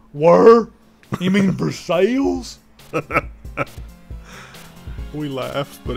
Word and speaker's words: Versailles: have London Kentucky and we have verses not Versailles it's spelled versailes but it's verses everyone if you like my